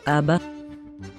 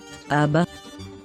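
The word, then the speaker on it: אבא: or daddy abba abba in the word abba we pronounce the first all f as a short dot then the letter bet is pronounced as ba because the nickeled sign below it is for a long off the last all f is silent but when the vowel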